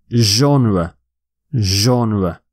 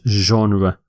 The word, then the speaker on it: genre: next word which is a difficult one to pronounce people get this wrong a lot you say genre genre hm it is a difficult and had not a common sound in English genre it means a particular type of art or